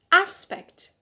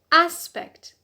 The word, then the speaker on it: aspect: vowel number two as aspect aspect so here the stress on the penile because the last syllable has a short vowel which is a so here on the penant rule 2 a the next noun is